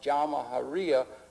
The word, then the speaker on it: Jamahiriya: You'll hear Colonel Gaddafi talk about the Jamahiriya, pronounced Jamahiriya, which roughly translates, in an Arabic term, which roughly translates out the state of the masses.